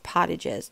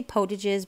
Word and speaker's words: Potage: But I think it's Pottages. You might say Potages because like potato, it would be a long O, but I'm not really sure.